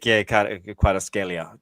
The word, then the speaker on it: Kvaratskhelia: Yeah, but I'll take Kvaratskhelia. That's how you say his name. Kvaratskhelia, I think.